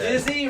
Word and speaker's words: Dizzy: Dizzy rhymes with Izzy, bro.